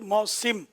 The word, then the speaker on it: موسم: موسم لفظ ہے, سین کے نیچے زیر ہے, جو آپ نے فرمایا ہے. اور موسم ہم لوگ عوام موسم ہی بولتے ہیں, لیکن صحیح تلفظ موسم.